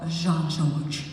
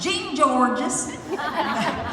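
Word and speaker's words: Jean-Georges: for real it's called jean george now i called it gene george's it's called jean george right and i didn't know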